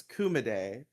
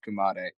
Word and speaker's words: Kumade: of But it's it's Kuma like the word for bear and then day. It's kumaday. Again, I said by I've heard it pronounced Kumade. I'm I'm sticking with Kumade.